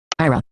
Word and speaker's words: Aira: go and touch the IRA app now and we'll hear it say IRA IRA so it's actually pronouncing it correctly so I hope you